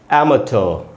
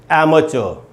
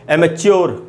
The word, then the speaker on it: amateur: तो इसको पढ़ेंगे दोस्तों एमेटर, एमेटर, एमेटर, इस प्रकार से इसका उच्चारण है, एमेटर। इसका एक और भी उच्चारण है, ट की जगह पर आप च का भी साउंड बोल सकते हैं, एमेचर। तो दो उच्चारण है, एमेचर या एमेचर। इसको एमेच्योर जैसा कि बोल लेते हैं हम लोग अक्सर इंडिया में, एमेच्योर, एमेच्योर नहीं बोलना है, एमेटर या एमेचर, आपको याद रहेगा।